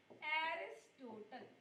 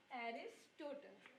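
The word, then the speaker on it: Aristotle: जिनको इंग्लिश में उच्चारण लेते हैं एरिस्टोटल। क्या कहेंगे? एरिस्टोटल।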